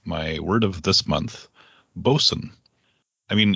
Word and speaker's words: boatswain: You'd think it would be pronounced boatswain, but it's bosun.